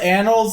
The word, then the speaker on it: annals: was not the first language I learned anals annals is the correct pronunciation but it but for comedic purposes it's